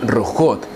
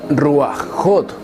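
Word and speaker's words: רוחות: het, por lo que su pronunciación en plural femenino sería rujot, y nunca ruajot, y mucho menos ruajim.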